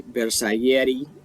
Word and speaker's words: Bersaglieri: So I love the fact that we're getting a Bersaglieri and an Alpini set. I think that's fantastic. And by the way, guys, you don't pronounce the G in Bersaglieri. Alright, that's not how you pronounce it.